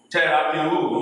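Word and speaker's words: θεραπεύω: Terapeu, Terapiwo. You are now pronouncing the whole syllable together as a word.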